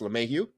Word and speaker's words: LeMahieu: It's LeMahieu.